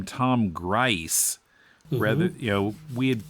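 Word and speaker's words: Gries: riddle a day and fine finney fiends he pronounces his name tom grice rather you know we had pronounced it grease i think before so because grease is the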